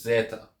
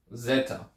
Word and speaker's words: Zeta: the letter which is Zeta oh whoops Zeta Zeta so it has that z z sound just the Zed sound not the D sound but the Zed sound